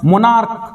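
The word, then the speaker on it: monarch: मोनार्क, देखो मोनार्क, अंत में सी एच है, अंत में क्या है, सी एच है, लेकिन उच्चारण क्या हुआ सी एच का, क्या हुआ, का।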